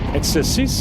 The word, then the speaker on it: Exercice: How do you say it in French again? Exercice?